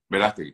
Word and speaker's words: Verástegui: que ellos lograron como cineasta, Eduardo, ¿cómo se pronuncia ese apellido? Verástegui. A Verástegui y Jim Caviezel, y esa aparición de Mel